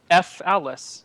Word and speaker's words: Falice: F. Alice is how it's spelled.